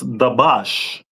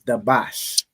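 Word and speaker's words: דבש: Honey is pronounced as dabash. No sign Christ. So honey is dabash.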